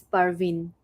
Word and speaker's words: Pervin: so first name is last name is Parvin thank you um counselor you're born Bangladesh in the city that's how we pronounce favorite drink I'll go with water excellent